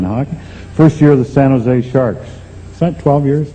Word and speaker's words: San Jose: he said stupid california don't pronounce a j in san jose well i said i'm